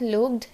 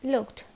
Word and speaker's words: looked: not looked, it is looked.